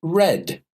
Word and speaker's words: read: the pronunciation changes so in the present read I read a book every day I read the newspaper in the morning but in the past read the pronunciation changes to red yesterday I read my